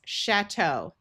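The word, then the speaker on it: château: Ch is going to have the sound of shh because this is a French word. So this is chatau.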